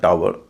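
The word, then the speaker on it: tower: ई आर फ्लावर टी ओ डब्ल्यू ई आर टावर पी ओ डब्ल्यू ई आर पावर इस list में अंतिम तीन जो शब्द हैं उसमें हम आऊ का उच्चारण करते हैं।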